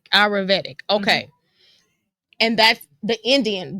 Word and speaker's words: Ayurvedic: And pronounce it again. Ayurvedic. Ayurvedic.